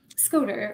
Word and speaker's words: Scoter: Now, Scotter or Scoter? Scoter. Well, that's how Scoter. We pronounce them.